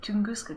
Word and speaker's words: Tunguska: It's really neat that they actually say Tunguska correctly. It should be a little, yeah, like pronounced more like that, but I guess Tunguska